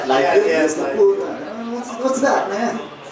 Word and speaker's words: Liefeld: Pronouncing his name right? Liefeld?